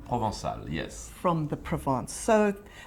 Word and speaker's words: Provençal: You have, now you will have to tell me how to pronounce this, a Provençal hue. Is that correct? Provençal? Provençal. Provençal, yes.